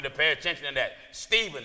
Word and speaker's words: Stephen: pay attention to that Stephen or who some pronounce here Stefan Stefan all right a man